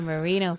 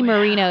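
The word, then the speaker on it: Moreno: not Frank Marino and it's spelled differently it's spell Frankie Marino is actually spelled m o r e n o not like the other okay yeah and uh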